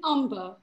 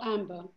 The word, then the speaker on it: umber: Henry, isn't it umber, not amber? Umber. Umber. With a U. Umber. Thank you for correcting my pronunciation. No, it umber. Was not you, it was the other person. Umber. Umber. Umber. Not A, U. U. U M B E R.